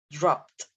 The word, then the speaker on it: dropped: You end it with the T sound. Dropped.